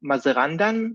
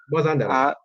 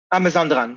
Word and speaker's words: Mazandaran: I'm going to mispronounce this terribly, from Mazarandan. I'm not sure. Mazandaran. Mazandaran, thank you.